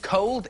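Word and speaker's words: Colde: We're going to meet a guy called Cold. He's got an E at the end of it. It's spelled C-O-L-D-E.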